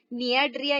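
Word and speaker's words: Cnidaria: Protozoa, Porifera, नियाड्रिया, सी से शुरुआत होती है लेकिन सी यहाँ पे साइलेंट हो जाएगा। प्रोनाउंस करते समय आपने क्या बोलना है, नियाड्रिया ही आपको कहना है।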